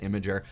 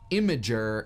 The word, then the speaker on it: Imgur: So I went to Camp Imager, so I say it imager, last year, and it was super fun.